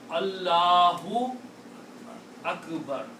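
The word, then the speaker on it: الله أكبر: So when you call adhan, you say Allahu Akbar. So you have pronounced the correct word here, because the word is Allahu.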